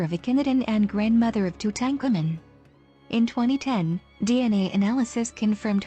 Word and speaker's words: Tutankhamun: King Tutankhamun ruled 1334 to 1325 BC. Tutankhamun, Egyptological pronunciation Tutankhamun, commonly referred to as King Tut,